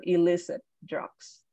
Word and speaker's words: illicit: excellent all right elicit products um so it illicit uh so it's actually pronounced as e so illicit drugs illicit drugs excellent I think it does decrease